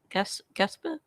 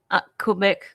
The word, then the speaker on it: Quebec: How did I pronounce it wrong? Gasper? Quebec.